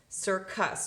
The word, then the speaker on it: circus: I follow my rule followed by E I or Y it's gonna make it soft sound so I have sir sir now I have another see in this syllable followed by a you well it's not followed by an e I or Y so I know that's gonna make its hard sound so us circus well